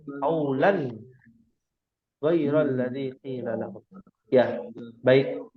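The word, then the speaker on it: قولا غير: Lan itu apa hukumnya? Idhar ya, bacanya jelas. Bukan qaulan ghairal ngambang ya. Qaulan ghairal ladzi qila lahum.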